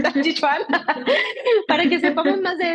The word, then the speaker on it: Tai Chi Chuan: pronuncia? Tai Chi Chuan.